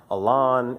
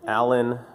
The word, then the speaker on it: Alan: Is it Elan? Is it Allen? What is it? The answer to that is it doesn't really matter. I say Elan, mostly because it's a portmanteau of aluminum anodized.